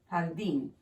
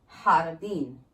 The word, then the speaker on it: Jardín: The accent is basically, when you see it, just say that syllable stronger than the rest of the syllables within that word. Jardín.